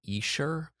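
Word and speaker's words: Essure: would travel when you are ovulating it's called e-sure uh it's it's it's spelled e-s-s-u-r-e in my particular one that i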